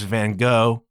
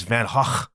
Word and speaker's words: Van Gogh: There's this traveling thing, Van Gogh, better known to you and me as Van Gogh. That's how we say it, but apparently the Dutch pronunciation is Van Gogh.